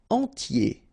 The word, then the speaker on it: entier: Entier. So remember, I-E-R, I-E, okay, and then the T, tier, and the nasal before, en, entier.